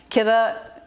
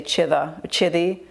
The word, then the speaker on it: كذا: Or I've heard some dialects, they say chida, chidi means kida, yeah, because the ka they pronounce as a cha.